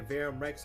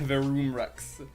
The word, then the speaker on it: Verum Rex: People tend to say Verum Rex with the short U like Verum, but the dev team actually pronounces it with the long U like Verum. Okay. Not saying it like that. Verum Rex.